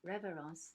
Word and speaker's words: révérence: Jasmine pronounced révérence the French way.